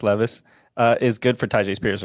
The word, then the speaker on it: Levis: Will Levis now that we've learned how to say his name it's not Lis Levis is good for Tai